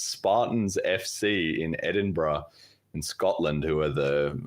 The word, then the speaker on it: Edinburgh: wrong Ed Ed yeah I did anyway it's pronounced Edinburgh I know that because I've been there and